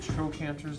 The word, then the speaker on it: trochanter: There are 2 big trochanters, they're called. It's a hard cut sound, trochanter, because it's spelled like CH.